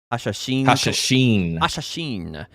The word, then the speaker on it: Hashashin: Hashashin.